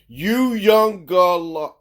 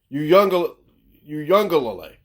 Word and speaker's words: Uiagalelei: I think his name is Uiagalelei. Uiagalelei. Yeah. Try again. Uiagalelei.